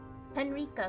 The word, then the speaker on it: Henrika: So it is Henrika. It's like Micah. Henrika.